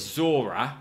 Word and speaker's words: Zora: And I'm pretty sure it's Zora, like two syllables, not just whatever you just said.